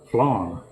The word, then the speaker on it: flan: And I say it's the same as Southern for flying. Because there's a specific type of motorcycle crash, which I have, of course, done a number of times, and on a bicycle too. It's called a flying W. But if you're saying it the way I would say it, it's flan W. So, flan. Yeah.